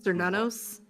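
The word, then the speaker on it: Cernunnos: You know how to pronounce it, don't you? Uh, Cernanos, the Lord of the Wild Hunt.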